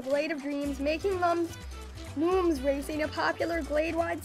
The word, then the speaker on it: Lums: land starts to dissolve Lums looms pronounced looms like illumination not and not Lums for dumb are beings of pure